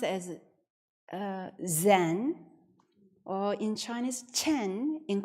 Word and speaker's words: Zen: of the Chinese character means Oneness and it's pronounced as uh Zen or in Chinese Chen in Korean is pronounced